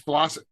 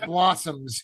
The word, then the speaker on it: Blossom: Robert's blossoms or Robert's Blossom it's so weird to pronounce his name it's not about blossoms it's Robert's Blossom Blossom who uh was